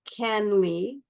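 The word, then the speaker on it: CanLII: And then um I'm going to tell you you should this there is a a u free database that is called canly and that's spelled C A N L I.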